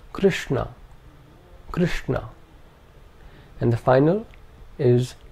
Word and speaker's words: Krishna: The second is a cerebral sh. This is the sh of Krishna.